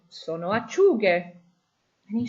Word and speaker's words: acciughe: We want a hard G sound. And in Italian, in order to keep that hard G sound, we add an H to the word. So acciuga becomes acciughe.